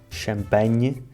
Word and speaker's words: champanhe: No fundo, é a mesma palavra em ambas as línguas e em ambas se pronuncia nhe, só que em português escrevemos NH, champanhe, e em francês eles escrevem GN, champagne.